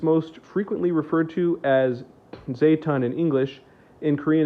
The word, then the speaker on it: Zaytun: And it's most frequently referred to as Zaytun in English. In Korean, it's pronounced quite a bit different.